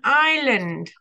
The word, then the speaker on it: island: okay let's read an Island an island okay you can see the S there but we don't say it we only spell it like that okay leaves leaves a